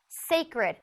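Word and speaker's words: Cécred: how to say it the line is called sacred it's just spelled really weird so sorry sacred right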